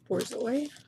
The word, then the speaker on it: Borzoi: Borzi? Borzoi.